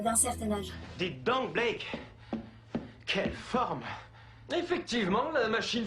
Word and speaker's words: Blake: Ah, c'est Blake et Mortimer, et pas Black. Pourquoi tout le monde dit Black? Je suis le seul à prononcer correctement.